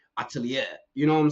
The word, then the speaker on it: atelier: say this word because I was saying Shilaken atelier, but that's not how you say it. It's like atelier.